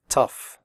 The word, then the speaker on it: tough: pronounce the word correctly the 0 ugh in tough is pronounced off liking stuff tough recipe if you have